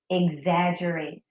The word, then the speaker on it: exaggerate: not generate okay but the ex is sounded out as egg exaggerate number six recommendation recommendation